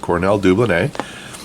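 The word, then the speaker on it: Cornell Dubilier: we had that that Cornell deublin a I said it right a few people corrected me and that's a French word so that's the right way to say at Cornell deublin a and we had that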